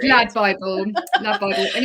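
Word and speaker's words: LADbible: I was like, is it LED Bible or is it Lad Bible? Yeah, no, it's Lad Bible.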